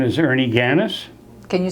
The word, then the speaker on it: Ganas: your full name yes my name is Ernie gannis can you spell that for me g-a-n-a-s okay and um you